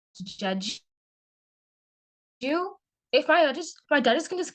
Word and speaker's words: Diedhiou: That's spelled Diedhiou, as seen on the screen, and pronounced Jeju.